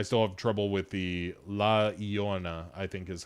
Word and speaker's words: La Llorona: I still have trouble with the La Llorona, I think is how that is actually pronounced.